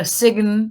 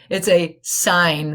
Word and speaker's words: sign: G it's not a Sigyn it's not a sigan right it's a sign the G is silent all right so when